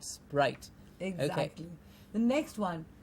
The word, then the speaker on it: Sprite: And remember the vowel sound I to give us a correct pronunciation. Sprite and not Sprite.